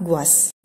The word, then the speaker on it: gouache: Mungkin tulisannya di sini seperti susah disebut ya, gouache seperti itu, tapi sebenarnya cara bacanya adalah gouache.